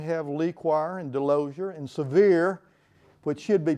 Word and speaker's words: Sevier: That's why we have Lequire and Delosier and Sevier, which should be pronounced Sevier, but we don't.